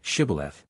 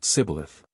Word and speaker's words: Shibboleth: The Ephraimites were as unable to frame the sound of sh as Englishmen are to pronounce the Scotch och. The nearest they could come to the pronunciation was Sibboleth. This betrayed them, and 42,000 were slain.